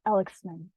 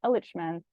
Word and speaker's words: elichmen: And also that we're mispronouncing the word. It's actually pronounced elichmen.